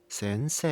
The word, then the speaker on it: 先生: For example, many Chinese Mandarin speakers — influenced by the pinyin spelling en— end up pronouncing the Japanese word 先生 /sensē/ close to /sənsē/. It's the same kind of habit that makes them pronounce the end /ði ɛnd/as /ði ənd/. In this case, try slightly opening your mouth and letting the ''EH'' sound come forward.